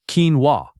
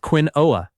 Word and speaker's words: quinoa: This healthy grain has a pronunciation nobody expects from the spelling. It sounds like quinoa, not quinoa.